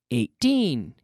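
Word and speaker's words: eighteen: With the numbers that are the teens, the emphasis falls on the second syllable.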